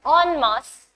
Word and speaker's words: en masse: whenever we read foreign words, en is basically pronounced as on. So the very first word starting with on is en masse, which is a French word.